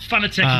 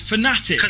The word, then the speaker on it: Fanatec: Actually, it's not Fanatec in your eyes. It's Fanatic. That's the name.